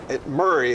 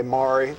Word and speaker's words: Murray: that's the way I Murray is the way I pronounce it but I'm not going to tell you how to say it pat you say Mari that's all right is that is that not the local pronunciation of it there Murray wow Murray well this is the way most locals say that's so definitely I'm